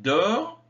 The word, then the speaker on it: dort: elle encore se prononce il dort ils dorment il dort le thé ne se prononcent pas ils dorment le m